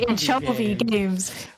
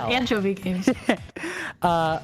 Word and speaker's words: Anchovy Games: You accented the second syllable in anchovy. You said Anchovy Games instead of Anchovy Games.